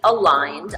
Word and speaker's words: Aligned: So we call the company Aligned, although it looks like it's spelled A Legend, which we will happily take as well. But it is aligned, and it's because of our two styles going in the same direction.